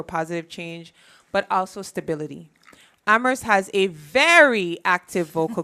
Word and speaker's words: Amherst: be essential the only that only the H is silent in ammer we are a vocal